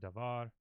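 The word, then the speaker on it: דָּבָר: devar in the word devar the accent is on the final syllable that's how most Hebrew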